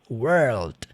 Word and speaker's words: world: A primeira é world. Dá uma enfatizada no L lá no final, né? World. E essa, word. É mais seca.